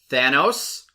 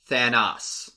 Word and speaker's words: Thanos: that during this movie, heroes pronounce the villain's name 2 different ways. You either got Thanos or you got Thanos.